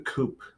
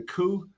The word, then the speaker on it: coup: today we're talking about the coop the coup the coup not our coops the spelled Coop yes but that's a silent P dear it's a good thing you're on this channel it's a good thing that I know franchise anyways it's a coup okay the coup begins